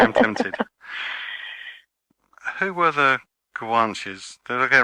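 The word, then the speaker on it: Guanches: plane senen I am tempted who were the guanes did I get right that time yes perfect perfect pronunciation the guanes were the original Aborigines if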